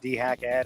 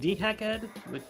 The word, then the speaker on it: DeHackEd: I mean, wait, you pronounce it dehack ed? I mean, that makes sense. Well, I do I do when I'm being a pedantic jerk off. Yeah, cuz I would have said dehacked, but you know.